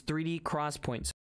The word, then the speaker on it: 3D XPoint: called a 3d crosspoint now it's spelt 3d xpoint but it is 3d crosspoints come on come on